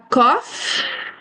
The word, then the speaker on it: cough: For example, we have a headache, a cough. In these days, many people have this a cough. Gh is pronounced as an F.